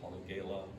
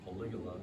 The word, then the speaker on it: polygala: So sometimes you run into things that aren't orchids, you know, like this fringed polygala or polygala, as I hear it pronounced, and just some other ones that you might, you know, think are orchids.